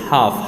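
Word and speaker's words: half: खामोश रूफ कहते हैं इससे हाफ हाफ में एल की आवाज़ नहीं निकल रही ठीक बारात मैंने पहले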